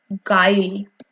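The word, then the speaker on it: guile: एंटम एंटिनम्स ऑफ the word गायल बच्चे you silent sorry you silent है आप इसे कैसे बोलोगे गायल जी आई एल ई बोलो आप ठीक है यू साइलेंट है यू जो है वो साइलेंट है इसका मतलब सामने ही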